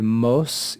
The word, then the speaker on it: mos: for example we see the Latin word MOS it's made up of just one syllable and it contains a long vowel the vowel is actually marked by a long sign so this is a